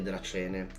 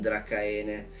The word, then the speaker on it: Dracaene: ma adesso sono diventate Dracene. Piccolo punto anche su questo, da quello che so si pronunciano Dracene, non Dracaene, mentre si scrive Dracaene.